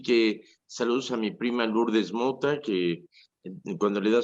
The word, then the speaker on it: Lourdes: George es el O-U es un, es una pronunciación en francés, se pronuncia U, Lourdes.